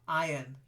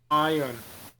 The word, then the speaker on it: iron: it entrance perfect then iron silent R iron iron perfect then hurdles like